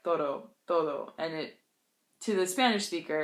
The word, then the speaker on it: todo: But for me, as an English speaker, pronouncing the Spanish D in this context, sometimes it gets a little soft in my mouth. Like, it comes out more like an R.